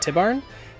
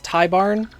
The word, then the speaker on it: Tibarn: huh no Ty Barn Irish pronounced it tibarn it could be but it's just I have a feeling it's tie Barn um because the I and the a are only separated by a single continent and when that's the